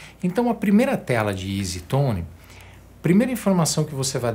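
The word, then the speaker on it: EZ Tone: que quer dizer isso as letras e Z em inglês se pronuncia Easy isso é exatamente a pronúncia da palavra fácil em inglês easy fácil Tom timbre então e zetone ou Easy Tone significa timbre fácil como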